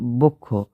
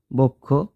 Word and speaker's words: বক্ষ: অ এর পর যুক্ত খ থাকলে অ এর উচ্চারণ ও এর মত হয় যেমন বক্ষ বক্ষ পক্ষ পক্ষ এখন কথাটা হলো আমরা নানানভাবে স্টাইল